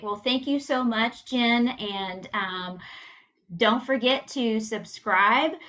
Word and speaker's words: Gin: Jen is spelled like gin and tonic, and Stevens has a PH.